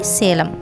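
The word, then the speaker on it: Salem: அந்த இடத்துல தான் ஒரு முக்கியமான ஒரு சிட்டி சேலம். இந்த சிட்டி வந்து ரொம்ப பழமை வாய்ந்த ஒரு சிட்டி. இந்த சிட்டியை சேலம்னு அவங்க ப்ரொனவுன்ஸ் பண்ண மாட்டாங்க, பட் சலம் அப்படின்னு ப்ரொனவுன்ஸ் பண்ணுவாங்க. வாவ், எல்லாமே ரொம்ப ஒரு வித்தியாசமான ஒரு இன்ஃபர்மேஷனாகவே இருக்குது இல்லையா?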